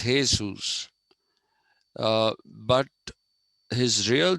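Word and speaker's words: Jesús: Okay, and the Spanish and Portuguese people call him Jesus. Okay, they pronounce J as Ha. So it is Jesus.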